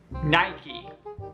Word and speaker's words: Nike: but next is diesel Nike now this is a tricky one even traditional English native speakers have trouble pronouncing that I mean even I do I originally thought this was not I mean I still use mic if you were saying it wrong before repeat after me Nike Nike Nike night night night night